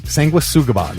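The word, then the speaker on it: Sanguisugabogg: Sanguisugabog is what he said.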